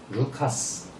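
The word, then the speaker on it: Λουκᾶς: 잘 모르겠어요 기록이 없으니까 누가의 원래 발음은 루카스 또는 스라고 합니다 그래서 전기 조명하시는 분들은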